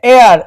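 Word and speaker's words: heir: leave এখানে কিন্তু হায়ার উচ্চারণ হবে না এখানে এয়ার এরকমই উচ্চারণ হবে এয়ার মানে হচ্ছে উত্তরাধিকারী এই সম্পত্তির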